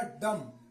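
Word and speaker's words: dumb: डी यू एम बी डी यू एम B rule क्या बता एम के बाद बी साइलेंट होगा तो य एम के बाद क्या है बी है तो एम के बाद य बी जो है यह पढ़ा नहीं जाएगा यह क्या होगा साइलेंट होगा अब देखिए यह पढ़ इतना ही जाएगा डीओ एम बी डी एम बी तो लिखा जाएगा लेकिन पढ़ जाएगा डम क्या पगा डम जिसका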